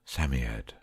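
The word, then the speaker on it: Psammead: Samiad is pronounced Samiad.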